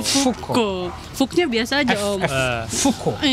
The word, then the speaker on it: Foucault: Foucault. Fuknya biasa aja. Oh, jangan pakai P.